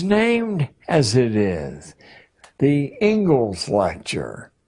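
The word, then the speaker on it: Inglis: as it is the ingles lecture looks like English but it's pronounced Ingles and I would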